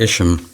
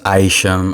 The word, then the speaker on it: Isham: uh collaboration with elijah ishmael i know you guys are gonna correct me uh it's pronounced aisham i always mispronounce my